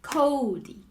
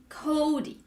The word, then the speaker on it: Kodi: natural speech way right like Cody right so we emphasize yeah that's you that emphasize the first syllable right so the second